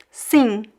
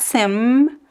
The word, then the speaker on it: sim: Ma min sing. Be careful. I don't pronounce the M. Sing. It's not sim. There's no M sound. Sing. Sing. You can pronounce like a very quick light N if you need.